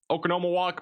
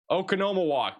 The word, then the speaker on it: Oconomowoc: But Madison, back down towards Watertown, Oconomowoc, Menominee Falls, Milwaukee, You guys are going to be kind of under the gun here, at least for this line of thunderstorms.